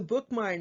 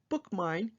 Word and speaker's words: BookMyne: It's called BookMine, and it's spelled a little differently. It's BookMyne, and that will give